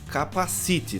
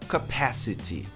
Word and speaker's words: capacity: A pronúncia da palavra capacidade não é capacite, tá vendo o negrito aqui? A maioria das pessoas coloca a tônica aí no final, capacite, que parece capacete, né? A pronúncia correta é capacity, capacity.